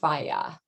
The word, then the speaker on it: FAGE: greek yogurt plain greek yogurt i believe it's pronounced fayah okay f-a-g-e so this is the two percent